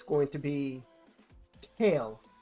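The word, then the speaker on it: Kael: going to be Kale, not Kyle. I don't care what the guy who gets paid thousands of dollars to narrate and talk about the what's next in Raid. It's Kale. That's how the community pronounces it.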